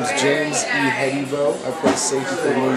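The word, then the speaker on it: Ihedigbo: My name is James E. Hybo. I play for the New York Jets. That's how you pronounce my last name.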